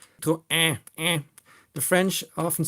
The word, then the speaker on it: Citroën: So you often say citron, which is a melon in French. Citroën.